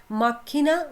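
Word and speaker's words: macchina: अब ये जो सी एच है ना, इसको आपने क की साउंड से पढ़ना है, क की, इसको च नहीं, इंग्लिश में हम च पढ़ते हैं ना, लेकिन इटालियन में इसको क पढ़ेंगे। माकिना रोसा, माकिना रोसा।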